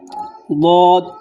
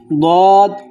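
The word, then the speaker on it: ضاد: দিক, তবে সহজ হলো জিহ্বার বাম দিক, তার মাড়ি দাঁতের সঙ্গে লাগালে দদটা উচ্চারিত হয়।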